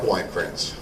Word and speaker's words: Weinkrantz: Mark Weinkrantz. Spell that.